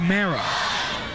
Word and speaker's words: Morrow: I think it's pronounced Marrow. Yeah, Marrow. Okay.